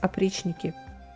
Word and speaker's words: Oprichniki: Pronounced as Oprichniki.